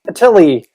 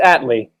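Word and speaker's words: Attlee: about it even uh let's just mispronounce this on first on purpose clement at atelie clement no it's clement atlee was the leader of what country from 1945 to 1951.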